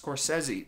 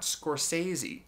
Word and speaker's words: Scorsese: It is in fact pronounced Scorsese, not Scorsese, although Scorsese sounds cooler.